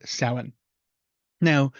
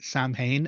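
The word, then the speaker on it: Samhain: imul baltina lunasa and sin now those are the pronunciations of those words it's not ever and never has been Sam Hae and never will be is s um also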